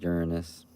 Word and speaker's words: Uranus: Yeah, but why don't you call it Uranus? Good point. I usually say Uranus because that's how astronomers recommend pronouncing it, but I totally get why the other way is funnier.